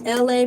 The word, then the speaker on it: Elay: My name is LA, pronounced like LA like the city.